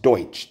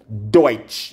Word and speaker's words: DOICH: How this pronounced? Deutsch. D-U-D-O-I-C-H. Babes, D-O-I-C-H pronounce what? Deutsch.